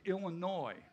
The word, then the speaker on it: Illinois: He's from the great state of Illinois. The S is silent, we all know that.